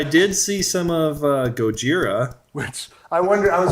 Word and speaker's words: Gojira: like everybody apparently likes Goda Goda is what they said so how do you pronounce it you say gajira I said goira Goa oh yeah it is Gojira there's no D in there sorry but um yeah